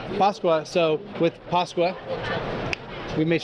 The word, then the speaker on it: Pasqua: I got Pasqua, right? Did I say it right? Mark. That's perfect. Yes. Pasqua. Pasqua.